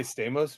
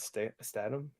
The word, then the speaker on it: Statham: You know, I say Stamos, but not Statham.